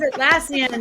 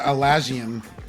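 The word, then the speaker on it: Atlassian: he's notorious for misspeaking I used to call it alian you know I was like I don't even know why Al Asian I don't know why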